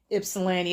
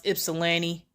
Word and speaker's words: Ypsilanti: Ypsilanti. It's so funny to see people that's not from Michigan when they try to pronounce Ypsilanti. You know, calling it Ypsilanti. They pronounce the Y.